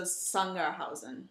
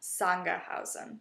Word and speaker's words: Sangerhausen: So is it more of a Z? Not quite. So Sangerhausen. Yeah. Sangerhausen.